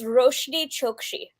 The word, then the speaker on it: Roshani Chokshi: just kind of winging it it's okay it's roshiri chokchi okay okay thank you that was really good